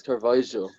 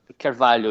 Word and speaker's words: Carvalho: It's Carvalho. Carvalho, yeah, but at least say it like that rather than saying Carvalho.